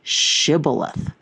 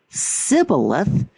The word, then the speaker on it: Shibboleth: If he replied no, they said, "All right, say Shibboleth." If he said Sibboleth, because he could not pronounce the word correctly, the Gilead seized him and killed him.